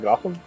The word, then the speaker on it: Gotham: what do you mean you're telling me it's pronounced gotham i keep reading it as got ham and the answer is